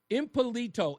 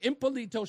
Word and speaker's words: Impalito: Now after 5 years of representing herself in a courtroom, Impilito I pronounced her name wrong. Impalito Shepard has finally won her case in a DC court of appeals.